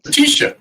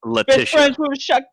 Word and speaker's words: Letitia: oh no letitia wright latisha no it's pronounced it's pronounced leticia no you have a